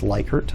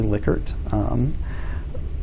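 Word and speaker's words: Likert: a liquor scale um you'll you'll hear it pronounced lykert somehow sometimes it's actually lickert so you'll see that's the scale kind of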